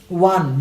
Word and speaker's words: one: biology then take eight one wo n it is never owned many bangladesh's would pronounce con that is wrong wo n that is one I repeat one just